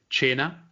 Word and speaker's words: Cena: to learn right now Cena which is pronunciate 'add Chyna imagine imagine it like zhe and China means dinner